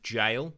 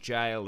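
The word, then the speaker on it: gaol: the haunted hotel is the derby jail or gal the juice pronounce it jail or gal Scott one of those it's like GA as yeah g-a-o-l but anyway yeah my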